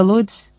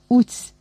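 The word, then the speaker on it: Łódź: Засніжена Лодзь, Уць, як вимовляють її назву місцеві.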